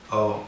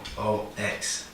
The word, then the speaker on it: Hoox: Hoox, that's Hoox, Hoox, okay? They're always beating me up about pronunciation so people understand.